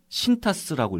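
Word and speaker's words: Cintas: 14번째 기업인데 심벌은 CTAS고요. 네. 신타스라고 읽었습니다. 신타스. 네.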